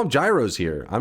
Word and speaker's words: gyro: The Cambridge dictionary said it's pronounced gyro. Thus, anybody saying euro is wrong.